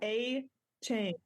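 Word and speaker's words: Achane: do you say his name oh my God a chain a chain a chain that's so anti-climactic every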